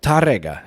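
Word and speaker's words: Tárrega: Tarrega? Tarrega. Oh, Tarrega, okay. And Tarrega, if you want to be fancy with it. Didn't want to make you feel bad, Joe, since you can't roll your R's.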